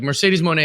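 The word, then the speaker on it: Mercedes Moné: we need to make it happen ASAP like Mercedes Monae is too big of a star that's how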